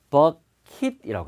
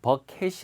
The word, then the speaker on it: bucket: 이 양동이 물통을 갖다가 버킷이라고 합니다. 예, 버켓이 아니고요. 버킷이라고 합니다. 버킷.